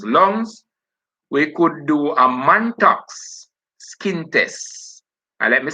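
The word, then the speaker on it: Mantoux: at a person's lungs we could do a muntax skin test and let me spell that for you m a n t o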